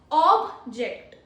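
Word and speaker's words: object: First is ऑब्जेक्ट।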